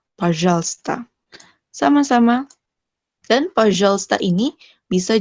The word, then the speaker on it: пожалуйста: Jadi di sini ada huruf U sama ikrat ke Y kan, tapi dia nggak dibaca tuh. Nggak пожалуйста gitu, tapi пожалуйста. Orang Rusia kalau ngajarin pelan-pelan, mereka bacanya пожалуйста gitu tuh. Пожалуйста. Beberapa orang di YouTube saya dengar gitu tuh, пожалуйста. Tapi kalau di dunia nyata nggak ada tuh bilang пожалуйста. Пожалуйста. Jadi L-nya langsung ke S.